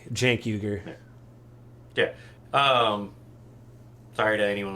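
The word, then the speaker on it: Cenk Uygur: recently listened to with Chen Huger where Huger called out um I might be getting the pronunciation of the name wrong so anyone J it's Jank Jank yuger yeah um sorry to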